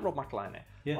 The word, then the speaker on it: McElhenney: It's McElhenney. McElhenney. What ways to massacre and mispronounce it, there are many.